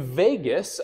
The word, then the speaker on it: vagus: And vagus, I like to translate to wanderer, okay? The reason I kind of laugh at this one is because vagus sounds like the word Las Vegas, where there are a lot of wandering souls.